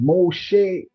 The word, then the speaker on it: Moshe: We are Desire saying exactly Moshe. Moses is saying good afternoon Delta. Pick up yourself Mos Moses and the Hebrew pronunciation. Moshe, thanks for tuning in and being a part of this live presentation.